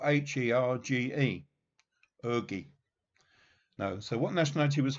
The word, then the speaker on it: Hergé: And that's spelled H-E-R-G-E. Hergé.